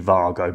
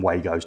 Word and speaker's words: WAGO: Sometimes, if you're saying it correctly, it's actually VARGO, but we call them WAGOs, don't we?